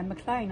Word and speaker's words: Maclean: No, yeah, Maclean, I said it right.